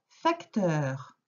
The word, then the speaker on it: facteur: C'est pour ça que je te dis, ce n'est pas faque. Fac, teur, le heur comme dans peur.